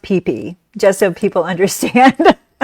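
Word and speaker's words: Phi Phi: the third day, um, you go to the PP Islands. Um, and and can I just say it's spelled P H I P H I. And it's but it's pronounced pee pe just so people understand.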